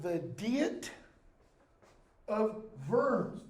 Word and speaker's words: Worms: invites Luther to What's called the deity of vernes w u r m s pronounced the Ws of in German but it's